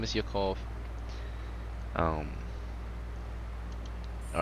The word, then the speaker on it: Yakov: to be all right yokov and you spell it yakov it's y-a-k-o-v i'll put it in chat yeah yep perfect yeah his name is yokov um all right let's